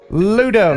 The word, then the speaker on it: Ludo: your name ludo uh i would say ludo yeah ludo all right